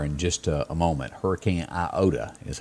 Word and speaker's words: Iota: Hurricane Iota is how you pronounce that.